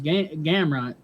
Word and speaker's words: Gamrot: It's Gamrot.